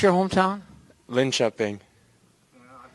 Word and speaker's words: Linköping: Linköping. I butchered that a few times.